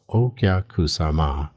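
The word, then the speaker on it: お客様: This is okyakusama, pronounced okyakusama, the guest mindset.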